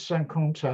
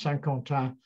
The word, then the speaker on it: Saint-Quentin: This is Saint-Quentin, as it's pronounced, Saint-Quentin, from the air.